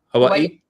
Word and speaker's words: Hawaii: tell me how to say the word Hawaii Hawaii yeah yeah yeah yeah I'm from Indiana I'm